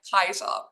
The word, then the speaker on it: Caesar: So instead of Caesar, how we pronounce it in English, it would have been pronounced something like Kaiser, the hard K sound at the start.